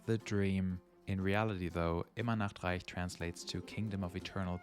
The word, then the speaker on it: Immer Nachtreich: infamous Immer Nachtreich, which a lot of people pronounce as Immer Nachtreich, which is really funny to us Germans because Nackt means nude. So essentially, it's a kingdom where everyone is always naked.